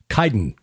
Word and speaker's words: Kidon: And the pronunciation, according to the That's Easy for You to Say quick guide to pronouncing Bible names, is Kaiden.